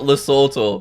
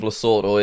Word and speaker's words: Lesotho: Apparently it's not Lesotho. Country pronunciation is a bit of a weird one, right?